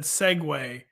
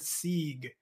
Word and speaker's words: segue: point John Hendrix said segue, which is the proper way to pronounce that word, and which I knew super embarrassingly a few weeks ago on the pod I said Sieg.